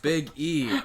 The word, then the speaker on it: Big E: I thought you meant biggie my gimmick that he stole from King Kong Bundy like the notorious b.i.g oh not biggie biggie a big E okay you're putting the emphasis in the wrong syllable Brendan the the notorious